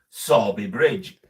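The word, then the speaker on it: Sowerby Bridge: we come from from near to us is saby Bridge as in s o r b y but it's PR it's spelled s o w e r b y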